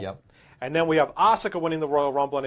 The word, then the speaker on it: Asuka: And then we have Asuka winning the Royal Rumble, and I think you also have Ronda Rousey on that one, no?